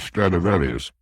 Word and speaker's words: Stradivarius: Ask anybody if he's ever heard of Stradivarius, which is the Latin pronunciation of the name.